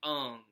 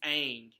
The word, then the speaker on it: Aang: to the I'm paraphrasing basically in like Chinese or another Asian country vernacular it sounds like Ungh but my problem with that is it was an american-made show and they said I like you this wasn't an anime that was originally made in Japan and then dubbed in English it was all made in English from the get-go it's it's Aang like even anime when